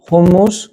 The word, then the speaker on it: houmous: On le prononce homo l'écrit houous à base de pois chiche.